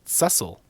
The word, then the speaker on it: Cecil: And we find out that Cecil is actually pronounced Cecil.